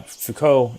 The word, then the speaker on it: Foucault: that way but yeah foucault is is pronounced like that it's michel foucault who